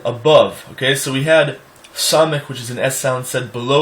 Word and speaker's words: Samech: Samech is a S sound said below, almost like when you say the word Mexico. When you come off the K of the Mexico, it's almost that you naturally pronounce the sound lower below the teeth. So it's actually s. It's not s like a regular S, it's s.